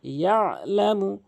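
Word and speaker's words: يعلم: পড়বেন ইললাবিললা এরপরে ইলামু এখানে অধিকাংশ আইনটিকে চাপ দিয়ে বলে না এখানে আইনের উচ্চারণ করে না এখানে আইন উচ্চারণ হলকের মাঝখান থেকে ইয়ালামু ইয়ালামুমা এখানে অধিকাংশ লোক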